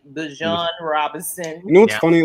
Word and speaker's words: Bijan: Bijan, we got to pronounce his name correctly. Bijan Robinson.